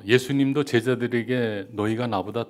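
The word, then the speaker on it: Yesu: 소리나는 대로 읽어보세요 시작 예수 다 무슨 뜻일 거 같아요 예수님이 예 예수는 한국 발음하고 똑같아요 예수 이렇게 하는데 에저 뭐냐면 예수님이 당신을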